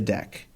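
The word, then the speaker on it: deque: So deck is short for doubleended Q. And as you're hearing me pronounce it, it's normally pronounced deck.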